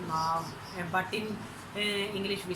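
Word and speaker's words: 猫: In Chinese we say Mao, but in English we say cat.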